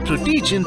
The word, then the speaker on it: Protegent: You need PRUE-TEE-GENT 360 to be installed in all your computers. (Yes, it's pronounced llike this. What did you expected? "Prot-gent?"